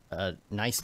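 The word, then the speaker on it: Neistat: I got a link to you know Casey nice that is how you say his last name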